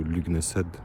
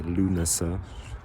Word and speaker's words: Lugnasad: Et la fête des récoltes, c'est plutôt Lugnasad. De nouveau, je prononce pas Lunasa. Je francise.